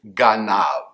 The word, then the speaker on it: ganav: And the root letters we have to talk about today are the Hebraic equivalents of G, N, and V. We'll pronounce it ganav.